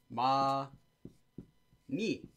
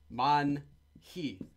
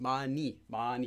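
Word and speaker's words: 많이: it's not pronounced as Mon he so be careful about that don't say Mon hi Mon he it's just money money exactly like money that's due to sound change rules so we'll talk about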